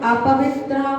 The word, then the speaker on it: अपवित्रः: और अगर हम अपवित्रा बोलते हैं तो त्रा में आ की मात्रा तो हो जाती है, विसर्ग नहीं होता है, तो इसका उच्चारण हम करेंगे अपवित्रः, पवित्रो वा सुस्थितो।